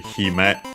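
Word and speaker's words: 姫: Actually, hime, the accent is on the first more, as we have seen the princess.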